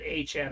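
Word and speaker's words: Etienne: A Chan. ETN. He wants to pronounce it Achan.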